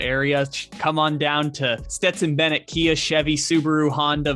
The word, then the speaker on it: Stetson: as they call him, Stetson Bennett. And we are saying it right on this one, as I guess we got it wrong on the last one. We kept calling him Stenson.